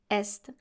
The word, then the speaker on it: est: Sud, south, est, east. Now here you have to pronounce the S and the T because we're talking about the east, l'est, and not the verb être conjugated.